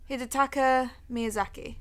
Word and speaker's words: Hidetaka Miyazaki: name, and then you're going to correct my pronunciation. Hidetaka Miyazaki.